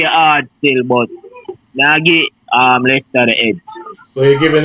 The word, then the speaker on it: Leicester: Although Leeds play hard still, but now get Leicester the edge.